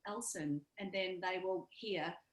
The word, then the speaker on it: Ellson: pronounce your name so instead of somebody calling me ellison which seems to be a common mispronunciation of my name um i can actually say elsen and then they will